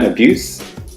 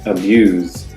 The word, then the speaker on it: abuse: The noun abuse is s. The verb form of the same word is abuse. Z.